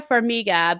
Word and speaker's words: Farmiga: that plays her in Vera Vera Farmiga believe is how you pronounce her last name yeah so I if